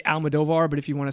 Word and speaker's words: Almodovar: So I just say Almodovar, but if you want to say it like my grandfather's Almodovar. Oh, wow. So, Oh, you got to roll that R.